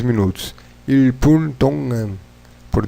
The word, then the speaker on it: 동안: Vocês vão reparar que os coreanos, quando falam rápido, eles vai juntar o som de G aqui no final, né? Com A, ficaria Dongan. Mas não tão forte. Dongan, como se tivesse meio fanho, enfim. Também Dongan, ou se pode pronunciar Tongan.